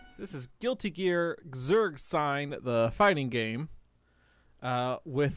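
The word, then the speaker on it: Guilty Gear Xrd Sign: guilty keer xerd which is correct this is guilty gear zerg sign the fighting game uh with that sweet sweet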